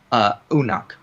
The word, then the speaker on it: Uruk: In Sumerian, as Wiseman notes, the way you would pronounce Uruk is Unuk, U-N-U-K. So it sounds a little bit more similar to Enoch in that sense.